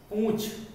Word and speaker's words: पूंछ: तो ऐसे शब्द अगला है पूंछ और पूछ। उच्चारण में जरा सा अंतर है, वर्तनी में तो अंतर है ही है।